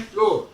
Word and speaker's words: flour: अब देखें, फ्लोर, फ्लोर, फ्लोर माने फर्श, और FLOUR फ्लोर माने आटा, FLOOR माने फर्श। तो इन दोनों का उच्चारण बिल्कुल एक है।